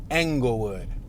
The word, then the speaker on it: Englewood: Today we're going to be doing a driving tour of a neighborhood called Englewood, spelled with an E. Not like Inglewood from LA, but Englewood.